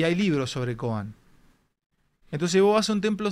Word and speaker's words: koan: un concepto se llama koan que suena como el apellido de Alberto coan pero no se escribe igual se escribe creo que